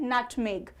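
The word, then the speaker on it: nutmeg: English में कहते हैं नट मेग नट मेग ग का साउंड आएगा ज का साउंड नहीं आएगा नट मेक नेक्स्ट वन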